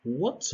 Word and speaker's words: what: شوفوا هنايا كاينة اش ولكن ما كتنطقش what.